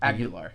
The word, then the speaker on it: Aguilar: How do you say your last name? Aguilar. Aguilar? Okay. Aguilar. Okay. Yes, sir. I have a mentor. It's spelled the same way. I don't know if it's Aguilera or Aguilar, but is there ERA at the end? No, for me it's AR.